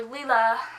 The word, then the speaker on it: Lila: character in the book lla or Leela however you choose to pronounce it her name is Delila so I think it's Lila she's actually kind of a